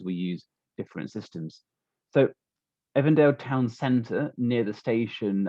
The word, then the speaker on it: Avondale: here is the suburb it's spelt avondale but in new zealand english it is pronounced evandale so i will call it by its proper name here's a suburb of evandale it is in west